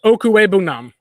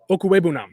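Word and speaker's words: Okwuegbunam: It's Okwebunam. That's how you pronounce it. It's Albert Chukwuemeka Okwebunam.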